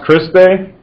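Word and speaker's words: cristae: cellular respiration starting off with this first word pronounced christe and actually the job of this part of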